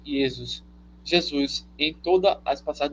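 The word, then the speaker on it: Ἰησοῦς: transitou o nome hebraico por yesus pronuncia-se yesus Jesus em todas as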